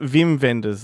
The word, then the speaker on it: Wim Wenders: But is it You'd be Wim like, Wenders or is it Vim Vendors? Like, I don't know. I've heard people say Vim. I think it's in Europe the W's are pronounced as V's, but There you go.